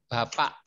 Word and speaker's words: bapak: Yes, Indonesian word pronounce the K as ek. Bapak.